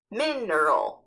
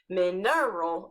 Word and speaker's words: mineral: didn't know that word mineral and since those first since these first letters are in capital it means that's where the emphasis lies so it's not mineral it's mineral there are